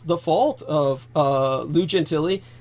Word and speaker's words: Gentile: uh here we are lou gentilly's name was spelled like genteel you'd think it was pronounced genteel so it's blue like lou and genteel was gentile was spelled g-e-n-t-i-l-e so like genteel and uh so lou